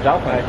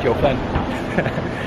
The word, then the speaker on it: Jiufen: So anyway, he'll be joining us today and we'll be heading towards the Jiufen, what's the correct pronunciation? Jiufen. Jiufen.